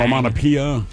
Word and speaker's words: onomatopoeia: Onomatopoeia.